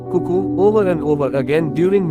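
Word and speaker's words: CUCU: The first system was called Cuckoo, pronounced Cuckoo.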